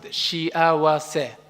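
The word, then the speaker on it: 幸せ: Let's pronounce it, shiawase.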